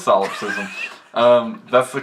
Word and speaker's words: solipsism: wrong button I have I feel like solop systm should start with a P like a silent P like PS o no it doesn't l o no it